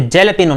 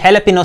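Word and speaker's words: jalapeño: दोस्तों इसकी स्पेलिंग को देखकर आप इसे जैलापिनो ना पढ़ें, ये हैलापिनो सीजनिंग एक मैक्सिकन मिर्च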